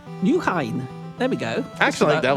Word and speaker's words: Nieuwegein: I'm going to teach you the pronunciation of Nieuwegein. Nieuwegein.